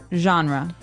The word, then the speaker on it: genre: Genre word genre. This kind of sounds French. Is it French? I think it comes from French. Uh it's a ge word. So genre. It's a soft soft sound.